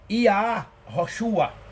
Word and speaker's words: Yahoshua: o camet patar então obviamente que aqui se pronuncia iá rosua Não tem, não é I é como aqui.